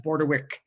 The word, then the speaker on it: Bordewich: name is spelled here even though it's ich at the end it's pronounced borderwick uh but the spelling